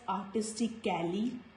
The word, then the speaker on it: artistically: Here the sound of letter A is silent. So we will not pronounce this word as artistically. No sound of letter A. So this word is artistically, logically, musically, physically, critically. So letter A is silent when it is followed by L-L-Y.